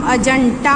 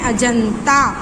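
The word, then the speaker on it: अजन्ता: Okay, भ्रमण भाषः किंचित प्रेष्यति, सम्यक प्रचलति, अजंता गुहायाम, अजंता नहीं है अजंता, त तराजू का बना लेना यहाँ।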